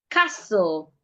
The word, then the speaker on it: castle: Castle, the T is silent.